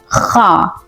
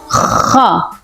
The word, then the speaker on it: خ: Its sound is like Khaa. Can you try it with me? Khaa, Khaa, Khaa, Khaa. Wow, you did amazing, mashallah. You will pronounce it like your round lips and you will say Khaa. The sound will come from your throat. Okay. Khaa, Khaa. This is the correct pronunciation of this letter. When we say Ha, then Ha is also from throat. Ha. And this one, Kha. Ha, Kha. Khaa.